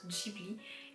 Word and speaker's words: Ghibli: juin 1985 du coup cela en fait se prononcent chibli et en fait ça